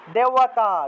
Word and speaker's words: দেবতা: বৃদ্ধি বৃষ্টি বৃদ্ধি বৃষ্টি আর এটা হল দেবতা দেবতা দেবওতা দেবতা দেব ওয়াতা হবে না দেব কেন হবে ব উচ্চারণ আসবেই না দে ও দেওয়া হ্যা দে ও দেওতা দেওতা তারপরে 29 নম্বর ব্রাহ্মার